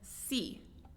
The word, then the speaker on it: see: Então, look and see, mesma coisa. Quando tem dois E's, se pronuncia como um I.